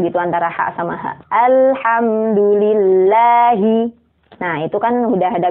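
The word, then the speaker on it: الحمد لله: Alhamdulillahi rabbil alamin. Nah, kesalahan yang sering terjadi di sini adalah ha yang disama-samain sama ha. Jadi bacanya itu Alhamdulillahi. Nah, itu nggak ada bedanya antara ha sama ha.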